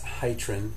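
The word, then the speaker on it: Hytrin: Next is terazzisin is how I've always pronounced it, but I've also heard it as terrazosin and that's hyrin.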